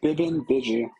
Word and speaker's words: Bibbin Biju: You say Bibbin Biju.